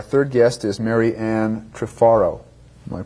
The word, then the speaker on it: Trifaro: Our third guest is Mary Ann Trifaro. Am I pronouncing it correctly?